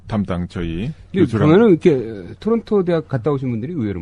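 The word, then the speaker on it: Toronto: 그러면은 이렇게 토론토 대학 갔다 오신 분들이 의외로 많아. 토론토 대학. 토로노 아니야? 토라노. 발음을 어떻게 하나요? 토라노. 토론토라고 우리나라 사람들하고 거기서는 아까 말씀하신 대로 그렇게 비슷하게 하고 오타와도 우리는 오타와라 그러는데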